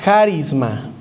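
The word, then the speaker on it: χάρισμα: Lo repito, esta palabra don viene del griego harisma con acento en la a con J, si lo quiere anotar.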